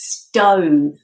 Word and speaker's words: stove: Yeah, so the odd one out is stove, because we pronounce that with a long O sound. Stove. Whereas the rest, the OVE, is pronounced with an of sound. Of. Love. Shove. Glove. They're different from stove.